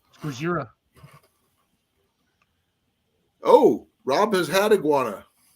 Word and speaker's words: Gojira: Godzilla. You got to say it right. Gojira.